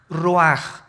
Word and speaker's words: ruach: Isaac cosa el ruaj que se escribe r u a c h ruach en el hebreo y se pronuncia igual ruaj Aquí vemos que al